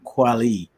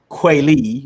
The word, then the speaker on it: Kweli: talked about it and she pronounces her name kwali and as you and i talked about yesterday so when i say kweily right it's like my brain is like no no no it's quality and she's kind of now